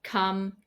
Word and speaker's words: come: For example, the letter O in writing in English is very often pronounced as A, so it should be written with the letter U, but it's not. For example, words like come, done, some, money, honey, mother, brother, oven, these are all pronounced with the sound A, not the O that you see in the writing.